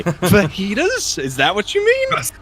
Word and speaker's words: fajitas: microphone, tried to say fajitas, which would be a good answer. Fagas. Oh god, where is this? Said it phonetically and said fagitas.